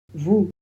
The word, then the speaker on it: vous: vous. On passe au pronom vous. On prononce le V. O et U, ça fait ou le S, c'est pareil que pour nous, on le prononce comme un Z.